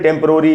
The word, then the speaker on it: temporary: ठे में जो ए है उसी पर स्ट्रेस है, वहीं ज़्यादा रुकना है। ठेम, प के बाद आधा अ है, यानी प पर थोड़ा सा रुकना है, टेम्प, और फिर है